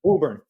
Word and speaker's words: Woburn: Woburn? Woburn. Okay. In the Northeast, it's hard to know which letters you pronounce or don't.